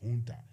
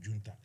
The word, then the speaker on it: junta: makers, junta or junta, if you want to use the proper Spanish, Latin America pronunciation is junta. But let's use the Greek, the Italian alphabet, let's say junta.